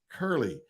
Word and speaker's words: Curley: So be very careful how you pronounce and say. Like it's Curly, C-U-R-L-E.